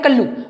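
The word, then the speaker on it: callow: अब जैसे कैलो लिखा है, इसको याद करने का, इसको हम लोग पढ़ते हैं कल्लू। वैसे इसका जो प्रोनाउंसिएशन है वो आपका कैलो ही होता है, लेकिन हम लोग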